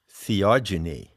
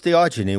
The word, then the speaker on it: theogeny: ever heard the word theogeny i coined that term when i wrote the seekers handbook it's spelled h e o g e n y genie as in genesis generation epigenesis genetics so